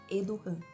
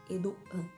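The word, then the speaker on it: Erdoğan: O nome dele se escreve Erdogan, mas o G, que é o Yumuşak-G, que tem aquele acentinho em cima, a gente não pronuncia. Então é Erdogan. Erdogan.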